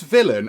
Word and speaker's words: villein: but this is a different sort of villain this is pronounced the same and i did look this up on the internet obviously but this villain actually is a medieval